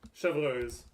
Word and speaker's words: Chevreuse: How do you pronounce Chevreuse? Chevreuse.